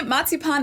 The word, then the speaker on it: Marzipan: Marzipan. That's how we say it in German. Marzipan. In English, it's usually pronounced marzipan, but the word is the same.